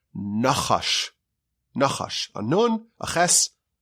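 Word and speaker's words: נחש: Eres nachash bein shinav, between its teeth. The poison, the venom of a snake comes from between its teeth. Now, what's the Hebrew word for a snake? It's nachash.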